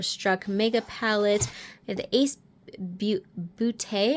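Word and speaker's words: Ace Beauté: Mega palette and the ace booty I believe is how it's actually pronounced Falling For You palette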